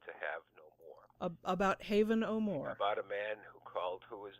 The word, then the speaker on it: Haven O'More: name, and it really, it's spelled Haven O'More is have no more, and so I called the chapter "To Have and to Have No More."